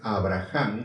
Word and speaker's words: Abraham: Tiempo después, Dios quiso probar a Abraham, aunque la palabra es Abraham, se escribe porque tiene H intermedia.